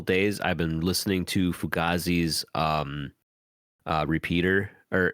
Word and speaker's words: Fugazi: Like, I think the Italian pronunciation is Fugazi, but the band's pronounced Fugazi, as far as I know. I stand to be corrected though. But yeah, Fugaze, Fugaze is pretty good.